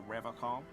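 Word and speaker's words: Revachol: But someone has to stay strong for Revacol. He pronounces Revacol with a hard K.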